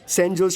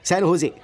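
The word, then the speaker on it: San Jose: Oh sorry sorry sorry sorry sorry, सैन होजे, SANJOSC। इसकी spelling यही है ना, लेकिन इसमें जे साइलेंट रहता है, इसलिए इसे सैन होजे बोलते हैं।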